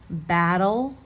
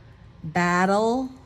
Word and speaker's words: battle: we know the D the t's sounds between the vowels will sound like a d so those were examples